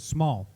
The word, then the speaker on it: smol: I would pronounce it small.